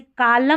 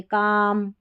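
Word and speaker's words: calm: जैसे कालम नहीं बोलते, काम, पालम नहीं, पाम, बालम नहीं, बाम, ऐसे L को नहीं पढ़ते हैं।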